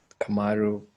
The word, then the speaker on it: KMRU: I go by the artist name Kamaru, but it's pronounced or yeah, abbreviated as KMRU.